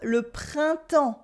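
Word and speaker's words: printemps: s we also have le Pronto for Springtime Le Pronto with a silent b a silent s and you don't hear any n or M sound either Le pronto with a lot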